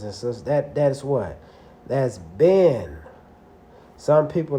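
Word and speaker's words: בן: That's ben. Some people like to say bon. But the correct pronunciation is just like over here today, right?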